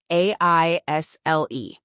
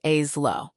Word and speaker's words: aisle: A I S L E. It's pronounced like al. The S is completely silent, so it's which aisle is the rice in, not which A's low.